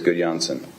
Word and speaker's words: Gudjonsson: Yes, it is Gudjonsson. How's my pronunciation?